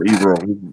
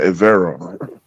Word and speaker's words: Evero: But Evero said in one of his interviews, I gotta stop calling him Evero. They actually pronounce it Evero.